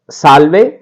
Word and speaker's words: salve: SALVE, और इसको लिखेंगे सा आधा ले वे, साल्वे।